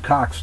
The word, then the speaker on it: Koch: They're both Kochs, though, but it is the Koch brothers. Yeah. They're both. That's the proper pronunciation.